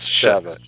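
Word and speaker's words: Chaffetz: I'm going to teach you how to pronounce his name yet. It's Chavez.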